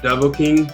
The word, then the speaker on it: Dovahkiin: My kids are always correcting me on the correct pronunciation. The Dovahkiin.